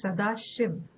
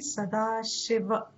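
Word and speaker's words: Sadāśiva: incomplete syllable it comes you say sadashiv in hindi it is okay but in sanskrit it'll be sadashiva sadashiva can you do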